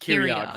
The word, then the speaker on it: Kyriog: So what I'm gonna do is Bert is going to so Dorian and is it Kyriog? Kyriog, Kyriog. hard C.